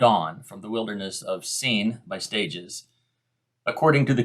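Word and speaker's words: Sin: Israel moved moved on from the Wilderness of scene by stages according to the Commandment of the Lord and camped at redim but there was no water for the people to drink again pronounced scene if you look at your Hebrew concordance uh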